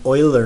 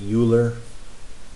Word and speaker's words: Euler: E is the Euler number. Some people pronounce it Euler. Could be Euler or Euler.